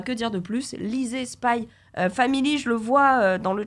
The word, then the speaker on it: Spy x Family: jour ce spécialité puisque c'est pas spy cross family mais bien spy family un quart à design